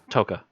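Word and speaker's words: Tokka: Was it Taka? Toka. Yeah. Toka. Razor was the fox. Was that how you pronounced it?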